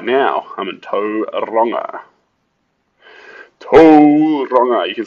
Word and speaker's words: Tauranga: up in Auckland but right now I'm in to ronga you can say towering but uh sounds better people argue because it's